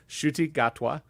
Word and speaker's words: Ncuti Gatwa: That is his name, Ncuti Gatwa. Bless you. At least that is the best pronunciation I Yeah.